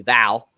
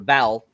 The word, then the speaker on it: Vel: that happens to be Val. Or Vel. I think it's Vel, actually, because it's spelled V-E-L, but I swear they call her Val.